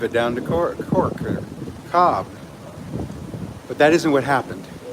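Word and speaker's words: Cobh: We were in town today, Cobb, or Cobe, depending on how you pronounce it.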